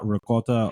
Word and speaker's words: ricotta: Is it ricotta, ricotta, rigot? What is it to you? And do you look down upon those peasants who mispronounce this word? No, I don't. That's not why I look down on people. No, it's ricotta, right? It's how I grew up. Grew up with it. There's no A.